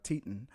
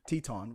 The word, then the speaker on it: Teton: On the 25th of August, last known to they were last known to be in Grand uh Titon Teton or if I said it right, Wyoming Teton Teton Wyoming heading towards Yellowstone National Park.